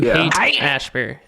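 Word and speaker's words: Haight-Ashbury: found out um hey how do you say it hate Ashbury you hate Ashbury okay hey ass bear um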